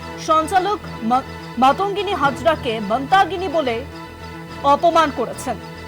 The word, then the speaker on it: মাতঙ্গিনী: নাম ভুল বললেন সঞ্চালক মাতঙ্গিনী হাজরাকে তিনি মতাগিনী বললেন এই নিয়ে আপনার প্রতিক্রিয়া